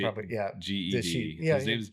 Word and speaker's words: Ged: I pronounce it just the same way I pronounce GIF. So I say Ged.